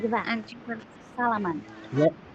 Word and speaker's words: salaman: You usually do this, or we should say salaman. So salaman is something that you do with your friends or your colleague. Salaman.